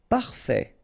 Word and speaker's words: parfait: E parfait final not pronounced.